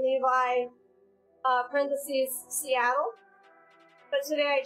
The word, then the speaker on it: Levie: But it's actually Levi, like the Levi jeans, so that's why I put that silly thing in there.